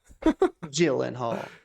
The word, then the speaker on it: Gyllenhaal: Gyllenhaal.